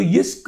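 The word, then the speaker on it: Jyske: इस्क करके बोलते हैं, जे साइलेंट होता है, यह होता है वो. ठीक है, तो इस्क बोलते हैं, इस्क world first bank to offer negative interest rate on the home loans.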